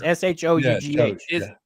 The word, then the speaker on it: Shough: It's SHOUGH. I swear it's a K. It's a K sound at the end.